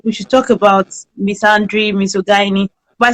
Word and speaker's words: misandry: So the first thing we want to talk about is I don't know the pronunciation, Misandry.